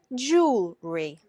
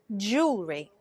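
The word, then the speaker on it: jewellery: this pronounced differently but in British English we would simply say jewelry jewelry jewelry not jewelry jewelry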